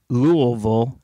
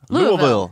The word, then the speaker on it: Lille: question okay yeah first he's from uh louville Lille and he he showed how to pronounce it Lille Lille say that speech stuff